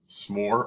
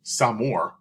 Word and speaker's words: s'more: A s'more, pronounced s'more or s'amour, takes the three best